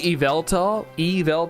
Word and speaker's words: Yveltal: Yes, you have trouble with the, it's apparently Yveltal, like that. I've always said Yveltal.